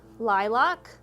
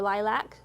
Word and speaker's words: lilac: purple you might hear lavender lilac or lilac depending on how the person pronounces it mauve periwinkle plum plum